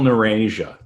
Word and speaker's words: Neurasia: uh i mean it's it's pronounced like eurasia with an n but it's spelled like